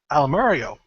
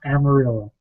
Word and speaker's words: Amarillo: This will be at Almario. I think totally screwing up the name. Texas. And I believe Bostria will be there at the Amarillo. It's pronounced Amarillo.